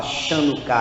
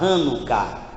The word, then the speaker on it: Hanukkah: Então a gente não fala Chanukah, a gente fala Hanukkah.